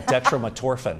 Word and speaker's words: dextromethorphan: How do you pronounce that? Yeah, dextromethorphan.